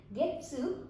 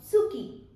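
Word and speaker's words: 月: Getsu or Tsuki. These are the two pronunciations of moon in Japanese language, okay?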